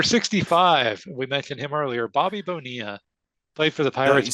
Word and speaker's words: Bobby Bonilla: Number 65, we mentioned him earlier, Bobby Bonilla. Played for the Pirates. See, you didn't say it right. You got to say Bobby Bonilla.